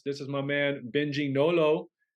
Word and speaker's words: Nolot: is my man Benji Nolo I had to look up how to say your last name because that t is silent but uh we know